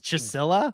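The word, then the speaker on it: Csilla: theory yes that is not I would never pronounce that as chisela and the fact that Matthew said it that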